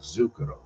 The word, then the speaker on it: Zucchero: lot of work with the Italian artist Zucchero.